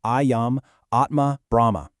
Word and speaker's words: Ayam Atma Brahma: That's pronounced Ayam Atma Brahma.